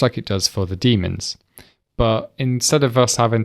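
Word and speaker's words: daemon: to create a demon a demon or sometimes pronounced as Damon is a background service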